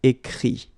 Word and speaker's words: écrit: Écrire, to write, will become écrit. Okay? Remember that phonetically this final T doesn't exist. Okay? So the sound will be only this I.